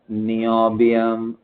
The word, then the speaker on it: नियोबियम: वाई, फिर Z zirconium, yttrium, zirconium, फिर बताओ नियोबियम, एनबी। नियो, मेरे साथ प्रोनाउंस करो, याद रहना चाहिए, नियोबियम।